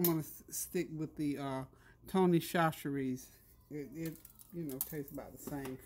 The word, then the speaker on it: Tony Chachere's: Somebody told me how to say it. I think it's Tony Chachere's. I was calling it Tony Chocolates. It was Tony Chachere's.